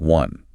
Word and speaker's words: one: While the word one visually starts with the vowel O, phonetically it is pronounced with a hard consonant sound, a W sounding like one.